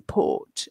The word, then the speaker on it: port: So the vowels, somebody asked, is the R in port silent? Yes, it is. But in Northern Ireland, they might pronounce the port, the R. And in Scotland, they would as well. They might say port. They might say the R.